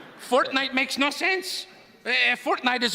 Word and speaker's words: Fortnite: Did you say fork knife? It's actually pronounced Fortnite.